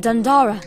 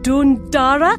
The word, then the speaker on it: Dundara: Look at you, a knight of the weird, a pact with Dundara. Of course, I love pacts. Dundora. I think it's pronounced Dundora. Dora the Explorer. Dundora the Explorer.